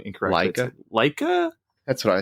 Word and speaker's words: Laika: Well, it's kind of the third big output from Studia, and I always pronounce their name incorrectly. Laika? That's what I say. Laika?